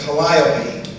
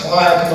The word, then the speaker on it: calliope: This was the purpose of the calliope. I pronounced it calliope all my life. In writing the book, some of the folks in the circus business say it was calliope.